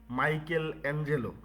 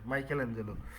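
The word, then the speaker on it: Michelangelo: এজন্য রাফায়েল আর হচ্ছে মাইকেল এঞ্জেলো। নামটা আমরা দুইবারে উচ্চারণ করতেছি। কিন্তু এটা পুরোটাই একসাথে লিখা। বইয়ের মধ্যে দেখবেন মাইকেল এঞ্জেলো। এম আই সিএইচই এল এ এনজি এলও পুরোটাই একসাথে। মাইকেল এঞ্জেলো।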